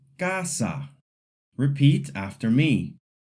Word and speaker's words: casa: The wrong way would be to say kasa or casa. The letter a in Spanish says ah. So the word is casa. Repeat after me. Casa.